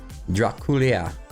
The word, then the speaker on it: Draculea: Vlad Draculea is what it is.